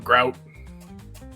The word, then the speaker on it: Grout: And it's like I'm grout rhymes with sauerkraut.